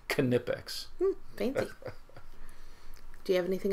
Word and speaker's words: Knipex: one of the reps I always thought it was nipex yeah and it's K ni i p x and they pronounce it knipex fancy do you have